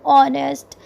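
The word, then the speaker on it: honest: के साथ भी के जिनसे पहले एच हो लेकिन एच साइलेंट हो जैसे आवर ऑनेस्ट इस तरह की चीजें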